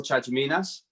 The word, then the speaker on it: Chatziminas: be on here so my name is chachaminas as you very well said before uh i'm